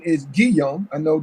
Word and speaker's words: Guillaume: Robert, and the correct pronunciation is Guillaume. I know G, right? Oh, Robert okay. Guillaume.